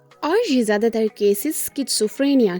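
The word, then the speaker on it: schizophrenia: लेकिन इसकी यह मैं असल प्रोनाउंसिएशन कर रही हूं क्योंकि मैं हालिया दिनों में एक ड्रामा देख रही थी पाकिस्तानी जिसमें वो इसको पढ़ रहे थे शिजोफ्रेनिया। सो एक्चुअल में इसकी यह प्रोनाउंसिएशन नहीं है।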